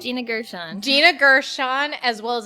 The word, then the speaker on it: Gershon: hot but it's pretty much about uh Gina Gershwin would you say her name was Gina Gina Gershon Gina Gersh Gina Gershon just got out of